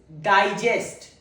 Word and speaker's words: digest: The pronunciation one is digest. Digest. The first syllable is stressed on.